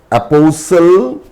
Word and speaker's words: apostle: T is also normally silent in the words that end in STLE. STLE. For example, castle, apostle, hustle, bustle, whistle, wrestle or wrestlers, thistle, nestle, etc.